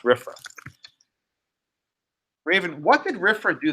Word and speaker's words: RFRA: It's pronounced RFRA.